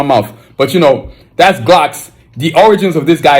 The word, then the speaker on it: Glucks: gles I was like no it's not gles it's Glocks and then I stopped